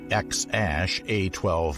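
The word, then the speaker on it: X Æ A-12: named their new baby x ash a12 musk the baby's surname is simply musk or little x i mean it's just x the letter x um and then the ae is like pronounced ash yeah and then a12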